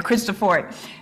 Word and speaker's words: Cristofori: Cristofori. And then Andrea Amati. Okay, Jayden says Cristofori. Sophia says Cristofori. Yes. Bart, thank you. Let's call him Bart for short. Number two, yes, Cristofori was the Italian man who invented what's called